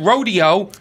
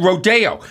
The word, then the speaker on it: Rodeo: You know what the And here we have we had Rodeo and then Rodeo spelled the same. Yes. The rich people in Beverly Hills call it Rodeo.